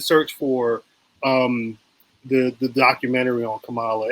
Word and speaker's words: Kamala: I just know from the Maya Rudolph SNL where she's like Kamala rhymes with Pamela, something like that.